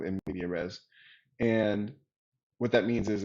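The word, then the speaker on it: medias res: know immediate res um i guess that's pronounced madaya res but i'm just going to go with nvidia res and what that means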